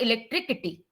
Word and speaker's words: electricity: k as in kiss but in electricity you see c i t y but the sound is like s as in silly electricity is not electricity it's not like that